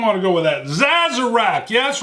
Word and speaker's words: Sazerac: Sazerac. Yeah, that's right. I pronounce the S as a Z.